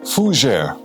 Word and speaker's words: fougère: Fougère, pronounced fougère, is the other French for fern.